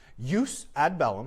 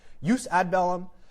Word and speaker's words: jus ad bellum: Jus ad bellum, so I'm going with the Latin pronunciation. It's a soft J. Jus ad bellum, uh jus in bello, and jus post bellum.